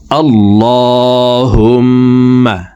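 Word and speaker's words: اللهم: আল্লাহুম্মা আল্লাহুম্মা, এই লামকে ল বলে পড়তে হবে। আমরা অনেকে আল্লাহুম্মা এভাবে পড়ে থাকি, এভাবে পড়লে অশুদ্ধ হবে।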